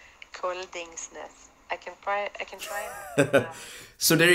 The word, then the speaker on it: Koldingsnes: All right, so my name is kind of tricky even in Norwegian, but it's basically how you write it. It's Koldingsnes. Koldingsnes.